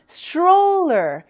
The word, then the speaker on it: stroller: Troller, Troller 하신 다음에 앞에 S만 갖다 붙이셔서 stroller, stroller 이렇게 발음하는 게 맞는 거죠. str 세 개가 자음이 있다고 해서요. 다 각각 발음이 되는 게 아니고요. 마치 하나의 자음처럼 발음을 해주셔야 됩니다.